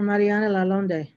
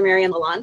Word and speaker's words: Marion Lalonde: much mr isaacs uh dr mariana lalonde and you will correct my pronunciation hi my name is doctor marion lalonde and i am the